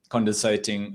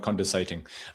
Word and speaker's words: condescending: So it is kind of easy to come across as a bit condescending. I think I've just butchered that word. Condescending, not condensating.